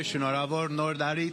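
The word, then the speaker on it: Շնորհավոր Նոր Տարի: Happy New Year, Shonorabor Nordari, to my Armenian fellas.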